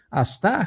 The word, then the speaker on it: ASTHAR: nosso convidado, o João Castro, ele vai falar sobre a confusão em relação ao comando as pronúncia, João, que eu até hoje não aprendi direito. Asta, astar, como é que é?